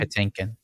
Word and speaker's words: Patinkin: delivered because Mandy pakin is how you say his last name Patinkin Patinkin Patinkin yeah imagined he